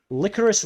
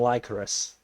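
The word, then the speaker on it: Lycoris: to the higher one licorice recoil because i think that's actually how it's pronounced rather than lycaus yeah it's licorice i'm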